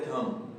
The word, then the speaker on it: thumb: हुआ है वो है थंब, THUMB, थंब। तो डियर स्टूडेंट, इसे हम थंब नहीं बल्कि में थंब पढ़ते हैं, थंब। तो बी यहाँ पर साइलेंट होगा, हम थंब नहीं बल्कि में से थंब पढ़ेंगे।